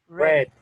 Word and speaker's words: read: Read, not read. Red. In the past participle? Read. Read. Exactly. So as you see here, it doesn't change. It doesn't change. It's irregular, but it doesn't change. But the pronunciation changes.